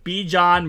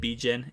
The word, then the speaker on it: Bijan: appreciate you telling me how to say his name B John Robinson as I said bijen it's B John Robinson